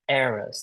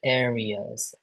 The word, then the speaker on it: errors: Um, one, you need to pronounce this word again. Errors. Not areas.